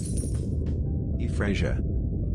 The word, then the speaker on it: Efraasia: E-FRAHS-ee-A. E-FRAHS-ee-A, pronounced E-FRAHS-ee-A, is a genus of basal sauropodomorph dinosaur.